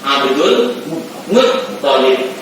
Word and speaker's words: Abdul Muttalib: Sayyid Abdullah bin Abdul Muttalib, bukan Muttalib yang tasdid, bukan lamnya tapi toknya. Abdul Muttalib.